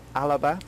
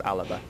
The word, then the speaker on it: Alba: gaelic which was the language they spoke is alaba now i'm gonna apologize because i pronounced mispronounced this in the previous video but